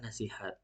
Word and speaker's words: nasihat: Yang benar itu adalah nasihat.